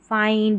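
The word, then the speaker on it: find: नहीं यहां पर बाइंड इसको भी फिड नहीं फाइंड ये एक्सेप्शन है स्पेलिंग्स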